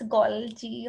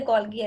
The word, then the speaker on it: Golgi: Basically, it's Golgi. Or you can say Golgi as well, no problem.